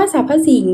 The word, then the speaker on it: สรรพสิ่ง: ข้อ ก ไก่ สรรพสิ่ง คำ ว่า สรรพสิ่ง เพราะ มี พ พาน มา เป็น ตัว สะกด จึง ออก เสียง ตัว สะกด ส่วน คำ ว่า พรรษา หรรษา และ คำ ว่า ตั้ง ครรภ์ ไม่ มี ตัว สะกด ออก เสียง อัน ข้อ 7 ข้อ ใด